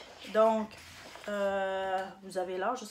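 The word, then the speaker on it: 銅: Dites pas do. Hein? Do. Avec une intonation basse.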